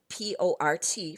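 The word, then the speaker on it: porte: can pronounce the C but the word poor p o r t for Port I don't hear the T poor if I put an e after the T now I pronounce the T port and that means door whereas poor means like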